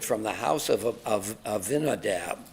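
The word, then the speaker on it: Abinadab: and conveyed it from the house of of Ainadab. How do you pronounce that name? Ainadav uh and and Vinadab's sons, Usuza and Ao.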